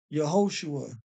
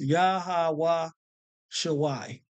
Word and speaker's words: Yahawashi: this here as in the Hebrew now they pronounce it as yahushua yaha so but this is actually pronounced yahawa Shai okay but this also is not the true